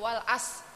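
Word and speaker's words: والعصر: Bu ya Bu ya Jadi ibu Kal baca Wal as Nah bukan was Tapi Wal as ada r-nya itu kita kita tapi tidak tidak timbul suara tapi untuk mengeluarkan mahrajul R kan ro ri ru Ar Nah jadi Wal as Wal asr karena rnya tipis yang terakhir w BRI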